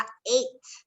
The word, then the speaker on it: ate: Por ejemplo, eat, de comer, cambiaría a ate. Se pronuncia como 8, ¿ok? En inglés.